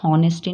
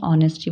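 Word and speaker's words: honesty: मतलब सपना ऑनेस्टी ईमानदारी इसको हम नेस्टी नहीं बोलेंगे ऑनेस्टी बोलेंगे यहां एच साइलेंट रहता है इफ यू वांट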